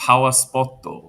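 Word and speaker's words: パワースポット: called they have something called a pawpoto which means that's that's a Japanese pronunciation of the English words power spot.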